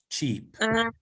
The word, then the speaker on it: cheap: Y la pronunciación es distinta. Barato es cheap y papita es chip. Chip and cheap.